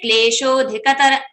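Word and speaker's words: क्लेशोऽधिकतर: I will say, okay, there is no pronunciation of avagraha, so I will just say klesho dhikatara, shodhikata. I have not make it longer. So, sho itself is a dirgha matra and it should be having two kals, two kshanas, 2 seconds.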